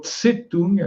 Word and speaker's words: Tse-tung: Ce qui m'intéresse, c'est de dire que maintenant, Mao Tse-tung, le Tse, c'est une prononciation qu'on trouve dans l'hébreu, on écrit simplement T et ça se lit Tse, Tsade.